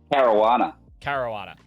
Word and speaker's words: Caruana: Caruana. Okay, thank you, my friend. Yeah, I'm pretty sure it's like marijuana, but just Caruana.